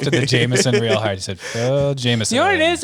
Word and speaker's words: Jamesson: the Jameson real hard Jameson you know what it is is I knew it was Jameson but I wasn't sure it's pronounced Jameson or like James son or something oh yeah I